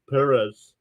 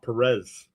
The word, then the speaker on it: Perez: Perez. It's pronounced Perez, not Perez.